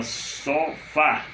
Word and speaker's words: sofá: Você tem a palavra sofá. Sofá. A última sílaba é fá, é a forte, a oxítona.